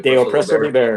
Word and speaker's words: De oppresso liber: The De oppresso libere.